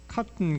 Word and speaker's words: cotton: 만약 이 창제된 글자를 계속 사용했다면은 영어 표기가 굉장히 원활해지는데, 예를 들어서 cotton 같은 거, cotton, cotton 할 때 이제 묵음으로 t를 발음할 때 그때 이 여린 그 히읗을 쓰면은 좋다, 이렇게 되어 있고.